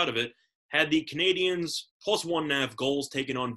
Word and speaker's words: Canadiens: Canadiens. You said it right. Canadians?